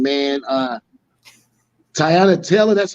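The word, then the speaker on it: Teyana Taylor: what's what's the what's her name man uh tyanna taylor that's how you pronounce her name okay yeah no disrespect to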